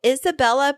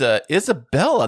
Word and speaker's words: Isabella: Welcome to the show, Isabella. Hey guys, thank you so much for having me. Thank you so much for showing up here. It's Isabella, not Isabel.